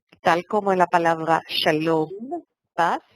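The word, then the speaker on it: שלום: Tal como en la palabra Shalom, paz, que termina con el sonido M, Mem, como la M, y no N. ¿Sí? No es Shalom, es Shalom. Cerrar la boca cuando se pronuncia.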